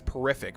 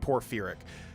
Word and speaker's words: porphyric: Porphyric hemophilia, which I always pronounce as porrific, but it's like porphyric.